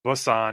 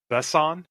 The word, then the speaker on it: Besson: So I Googled how you pronounce his name, and it is, I believe, pronounced not Luc Besson. It's like Besson.